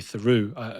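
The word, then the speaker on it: Theroux: a journalist here called Lou THU or Lou tho American sometimes pronounce it the son of the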